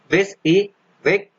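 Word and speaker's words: WYSIWYG: Then WYSI, WYG is pronounced as a WIS E WIG and इसकी full form है what you see is what you get.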